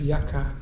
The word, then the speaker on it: Yucca: You can pronounce it any way you want. Everybody there says Yaka.